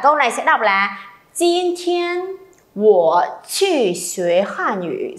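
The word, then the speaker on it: 今天: Nào lặp lại, jin thiên. Rồi âm này không bật hơi nhá.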